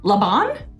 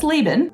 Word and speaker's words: Laban: Laban? No, that's Laban.